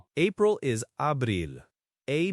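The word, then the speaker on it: abril: The A as in father. DC is like in English. And the I is like the E in tree.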